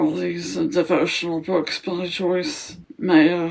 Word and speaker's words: Meyer: The other things I can show you are these devotional books by Joyce Meyer (pronounced, "Mayor/Mayer") - I think that's how I pronounce her surname (The correct pronunciation of Joyce's surname is, "Maya").